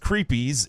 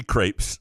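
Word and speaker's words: crêpes: behind a Sean Windsor feature on the best creepies in Greektown that would be Crepes um that word that's one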